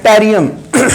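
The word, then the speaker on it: Yttrium: अब ये आपको याद नहीं आ रहा है, फॉर एग्जाम्पल कि इसका एटॉमिक नंबर कितना है, टेरियम वाई साइलेंट रहता है, टेरियम वाई डबल टी, ठीक है।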